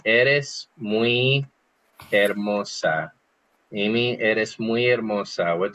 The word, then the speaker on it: hermosa: Eres muy hermosa. Eres muy hermosa. Maybe we've heard of Hermosa Beach in California, which most people call Hermosa Beach. That's a mispronunciation, right? Because the H's are silent.